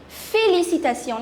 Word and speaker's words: félicitations: So for that, the word is félicitations. Let's just break the word and pronounce it. Fé, L-I is li, C-I is si, T-A is ta, T-I-O-N is sion. Félicitations. Félicitations.